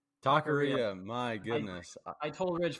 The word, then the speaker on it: taqueria: Taqueria. My goodness. I told Ridge 5 times before we started how to pronounce more it.